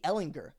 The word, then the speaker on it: Ehlinger: the game logs and same hard G Ehlinger hasn't thrown for 300